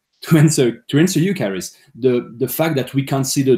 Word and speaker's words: Charis: So my point to answer Charis, how do you say it? Charis, sorry, Charis. To answer you, Charis, the fact that we